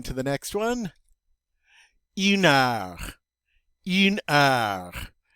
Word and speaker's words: heure: Une heure. Une heure. Remember, the H is silent in French, so we're not going to hear that word. And instead, we're going to go right to the vowels.